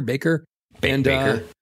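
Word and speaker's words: Bakker: Baker.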